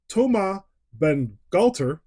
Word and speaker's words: Bangalter: half of Daft Punk, Thomas Bangalter. Yeah, that's the right way to say it. Without the French accent, I'm not going to try and do that.